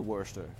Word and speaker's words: Worcester: Spurs I think that'd be Worcester pronounced Katherine pronounced Worcester Worcester West I was that is a funny one what I've been to werster werster woosh there my buddy Andrew Newman went